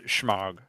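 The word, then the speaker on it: shemagh: exactly they're called okay so they're smelled like that but they're pronounced shmog the desolation of [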